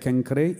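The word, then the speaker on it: Cenchreae: the concrete is called kankari they announced it's pronounced like kankare it is nakaya akai also is today's greece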